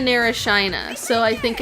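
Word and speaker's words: Shyna: y n a and it's it's that um it's either Shina or Sheena and it's like Sheena narina I've been I've kind of settled on Sheena Nar Shina so I think it's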